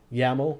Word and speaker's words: YAML: skip to the abstract yaml rhymes with camel is a human-friendly cross-language